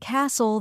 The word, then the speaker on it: castle: H is silent and Castle the T is silent that's true and the